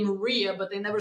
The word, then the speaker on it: Maria: and she says Barcelona when it's my name I don't say Maria as you say in America I say Maria as you say in Ukraine but that's your name